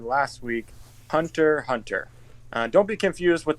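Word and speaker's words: Hunter × Hunter: don't be confused with the x in the middle it's just a weird thing that they do in the anime where they put x between words i i don't know why but it's still pronounced hunter hunter just be wary of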